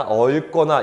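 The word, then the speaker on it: 얽거나: 그 다음 자, 이 친구도요, 얻거나가 아니라 얼거나 이런 식으로 읽으셔야 됩니다.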